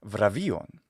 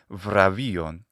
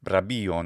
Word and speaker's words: βραβεῖον: And bravīum comes from the Greek word, which in modern Greek pronunciation is vrabēīon. And I like to use the Lucian pronunciation of ancient Greek for all forms of pre-Byzantine or pre-medieval Greek. So I say vrabēīon, which is with a v, the bilabial fricative.